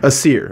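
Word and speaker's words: Æsir: was considered a goddess who dwelled amongst the Aesir, how do you say that? Aesir, okay.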